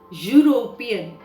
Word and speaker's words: European: a unit a union concentrate very carefully on the sound european the sound is u which is not a vowel sound that means it is a consonant sound okay that is the